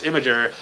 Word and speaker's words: Imgur: part of their website you can type in how do you pronounce imager and imager has a an actual website for it and it'll it'll tell you to say it exactly like that but if anybody remembers